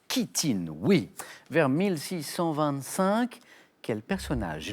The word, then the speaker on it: chitine: Chitine, qui s'écrit CH, qui se prononce chitine, oui.